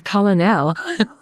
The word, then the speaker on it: colonel: Colonel. There's no R. It's colonel.